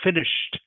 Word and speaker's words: finished: lot of these words same with a word like finished finished okay is the same okay the Ed D is pronounced just like a t Okay so diminished me